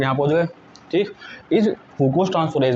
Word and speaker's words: fucose: इसकी प्रोनाउंसिएशन पे ध्यान देना, फ्रूक्रोज नहीं है, फ्रूकोज।